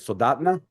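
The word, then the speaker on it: Soldotna: But when I had this judging assignment, the chapter there out of Soldat, how do you say it? Soldatna?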